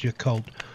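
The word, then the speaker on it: Yacolt: went into the town it's called the occult y-a-c-o-l-t that's pronounced the occult washington and i just got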